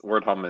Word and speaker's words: WrdHom: pronounce that yeah I I'm glad wordham is wordom is is uh how I've been saying it so am I saying it correctly is that right yeah